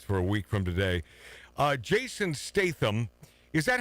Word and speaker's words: Jason Statham: Jason Statham. Is that how you pronounce his name?